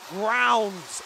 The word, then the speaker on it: Grounds: Fletcher Groans is not Fletcher Groans, it's Fletcher Grounds.